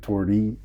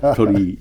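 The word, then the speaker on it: torii: I'm not going to mispronounce it again. Tori. Yeah. Tori.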